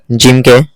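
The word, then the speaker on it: ج: আর জিম উচ্চারণ করার সময় আমাদের জীভার মধ্যখান আর মুখের উপরের তালু ঠেকবে। জীভারের মধ্যখান এবং মুখের উপরের তালু ঠেকে এই জিম শব্দটা উচ্চারিত হবে জিম জিম তারপরে হা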